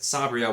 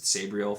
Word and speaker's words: Sabriel: but from starting with Sabriel, which I'm trying to pronounce because that is apparently how it's pronounced, but I've said Sabriel for 20 plus years probably, and so I'm trying to get it right.